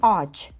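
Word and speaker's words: ağaç: Ми бачимо, що перед нею а, після неї іде а, а вона між двома голосними. В такій позиції вона дійсно не буде ніяк читатися. Вона типу пишеться, да, як символ, але вона не дає ніякого нам звуку.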